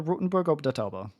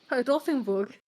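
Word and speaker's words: Rothenburg ob der Tauber: we're going to Rotenburg ob der Tauber. I wanted to say it. Thank you. Okay, say it. No. Pronounce it. No. I would like to hear your pronunciation of the town. Rothenburg.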